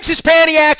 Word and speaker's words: Szczepaniak: Szczepaniak is here. Did I say it right? You nailed it.